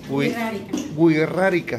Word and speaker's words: wixárika: Entonces, tendríamos que corregir eso y pronunciarlo de la forma correcta, que es wixárika.